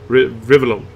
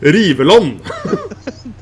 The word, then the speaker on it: Rivellon: Rivellon. From Oldenburg, what do I know? Rivellon. No. Rivellon. That's actually Norwegian pronunciation of that word.